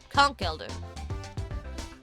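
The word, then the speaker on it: Conkeldurr: Well, that's how you're supposed to pronounce it cuz it's like conchk elder. Conch elder.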